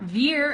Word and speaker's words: veer: direction that's here so your teeth vibrate against your bottom lip for the V here where as beer your lips close and then you push out all that air yeah so with this